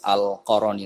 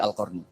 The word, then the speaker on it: al-Qarni: baru-baru ini adalah orang-orang harus membacanya sebagai "al-Qarni," bukan "al-Qarani." Meskipun saya tahu ada yang membacanya sebagai "Qarani" dalam buku-buku tersebut, sekarang harus dibaca sebagai "al-Qarni," sementara membacanya sebagai "al-Qarani" menyiratkan adanya hubungan.